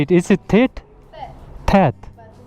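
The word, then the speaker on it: Theth: Thet.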